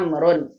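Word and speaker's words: عمرو: Jadi kalau mas lihat ada ain, mim, ro, tambahin wawu, berarti ini Amr, dibacanya Amrun, begitu.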